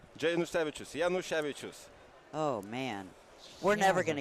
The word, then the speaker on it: Janusevicius: Janusevicius.